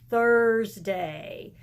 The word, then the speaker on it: Thursday: and today we're gonna have to stick her tongue out at the teacher and we're going to say Thursday all right today is